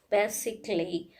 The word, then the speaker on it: basically: If these letters together is present in any particular words, in that case A is silent. Suppose logically, artistically, basically, physically, chaotically.